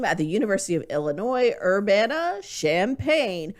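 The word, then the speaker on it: Urbana-Champaign: the university of illinois urbana champaign which i always want to pronounce urbana champagna because i just feel like that would be better but oh i see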